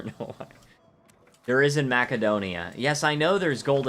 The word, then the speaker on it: Macedonia: Macedonia. That's one pronunciation, sure, but the actual pronunciation is Macedonia.